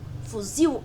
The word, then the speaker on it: fuzil: Oxítono porque a última sílaba, barril, fuzil, é que é a mais forte. O mais forte é o il.